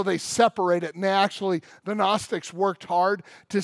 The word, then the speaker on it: Gnostics: John's day they're called Gnostics I like to call them ganache sticks but the G is silent but they're Gnostic so